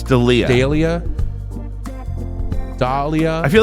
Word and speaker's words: D'Elia: D'Elia? It's D'Elia. Dahlia.